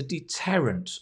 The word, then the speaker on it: deterrent: And for many, the punishment is a deterrent against crime, right? A deterrent. Difficult word. Deterrent. The stress is on the deterrent against crime, which basically is a discouragement.